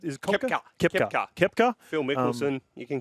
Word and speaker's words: Koepka: How do you pronounce it? Is it Koepka?